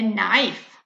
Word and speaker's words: knife: something with two long needles and wool a knife a sharp tool use for cutting food now